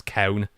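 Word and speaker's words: Calne: that tiny little backwater town called can pronounce coun by the locals and betts friend there's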